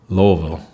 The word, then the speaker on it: Louisville: he's in the cbgm he's Louisville Louisville he's I'll say it properly one time he's lville lville um I haven't played